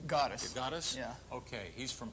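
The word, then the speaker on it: Gatzos: Is that how you pronounce that name? Gattos.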